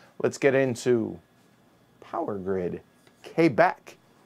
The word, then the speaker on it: Quebec: get into power grid k back which i found out is actually how the natives up there pronounce it i just know it's